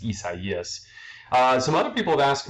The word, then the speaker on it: Isaias: That's how you pronounce it. A lot of people, obviously, in America are pronouncing it Isaias and all that, but the proper name, I don't really care how you pronounce it, but the proper name is Isaias.